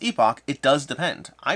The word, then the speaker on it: Epoch: region dependent in somewh some places it's pronounced epic other places pronounced Epoch it does depend I